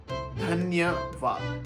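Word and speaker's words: धन्यवाद: But the pronunciation is shukriya or dhanyawad.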